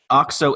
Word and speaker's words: OXO: about a five minute discussion on how to pronounce this name awk so international had a breach this week or at